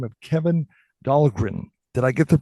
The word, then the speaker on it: Kevin Dahlgren: email from a gentleman by the name of Kevin Dahlgren. Did I get the name pronounced right?